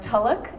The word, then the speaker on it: Tulloch: you're like six eight my last name is pronounced Tulloch unless you were in Scotland and I believe it would be like fella uh I'm we